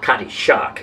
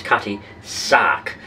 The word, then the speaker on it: Cutty Sark: ship this cutty shard it's not cutty shark it's cutty sark but cutty suck could